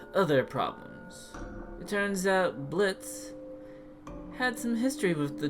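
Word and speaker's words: Blitzø: their leader, apparently named Blitz, though I also heard versions where he has an O at the end, and that he claims the O is silent, got into a firefight with a circus droid.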